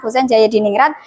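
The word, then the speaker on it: Hoesein Djajadiningrat: Ini ejaan lama, Cah. Bacanya Husein Jayadiningrat yang mengemukakan teori Persia.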